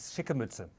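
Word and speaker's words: Schicke Mütze: It is Shikamuta.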